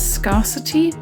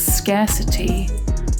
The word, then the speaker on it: scarcity: Until recently, I used to pronounce this word as scarcity until I was slightly nudged that it's scarcity. But why? It has scar and city in it.